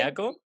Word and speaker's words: Anillaco: Se ve ¿Anillaco? I love Anillaco. Anillaco, ¿qué vendría siendo eso? Anillaco. Anillaco. Eh, Anillaco, no, Anillaco, en La Rioja no pronuncian la L.